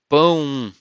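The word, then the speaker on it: pão: you say boom boom note that this word you have to use your nose to pronunciate when you have one ah with two in the top you have to pronounce with your nose so boom boom um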